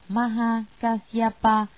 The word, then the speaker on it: Maha Kasyapa: Ngài Maha Ca Diếp, Ấn Độ đọc là Maha Kasyapa, chữ Hán là Đại Ẩm Quang.